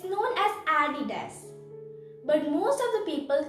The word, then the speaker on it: Adidas: you know what it is it's known as adidas but most of the people call it as aditas and that's wrong so do you know what